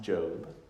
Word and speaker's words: Job: of a man called Joe but his name and English dispelled Jo be like the word job but it's pronounced Joe and is the story